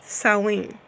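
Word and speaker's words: Samhain: Haan but it's pronounced sewing and let me click on something here and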